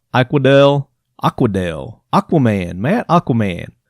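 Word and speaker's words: Eichwedel: e de l and he says it's pronounced i quod L so Matt I quod L hope I'm saying that right i quod l aqua del aqua del aquaman man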